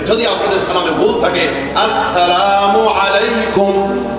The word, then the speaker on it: আসসালামু আলাইকুম: আসসালামু আলাইকুম, এই সিনটা উচ্চারণ ঠিক মতো হয় না, খালি সালাম আলাইকুম।